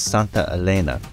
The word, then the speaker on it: Santa Elena: All right, we're at the Santa Elena Canyon Trail. I'll have the narrator interrupt me if I mispronounce that. He's close, but it's Santa Elena, and I'm probably still getting that wrong.